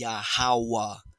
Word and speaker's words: Yahawah: holy tongue and so pronouncing whom the world calls God correctly is yahawa yahawa he is he has been he will be he is existence itself he exists he is yahawah he is existence itself